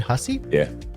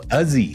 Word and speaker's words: Hussey: Actually, so it is Hussey, but my family from the east coast of Canada, so they're from Newfoundland with Irish heritage. They don't pronounce H's, and those S's are usually pronounced as Z's, or for the American listeners, Z's. So Uzzy. It would be Uzzy.